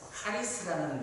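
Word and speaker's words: χάρις: 여기 은혜라는 단어는 이 원어를 제가 발음을 하자면 카리스라는 단어가 되겠습니다.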